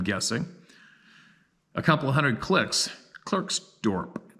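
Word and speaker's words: Klerksdorp: a couple hundred clicks Clerk's Dorp pronounced Clark's Dopp well who would have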